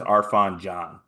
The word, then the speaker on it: Arafan Diane: How do I pronounce this? Can you tell me? I'm pretty sure it's Arfon John.